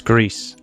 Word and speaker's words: Greece: It's Greece.